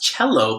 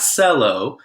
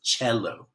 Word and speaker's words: cello: called the cello now it's pronounced cello because it's Italian it's not solo not Kelo its cello you have to play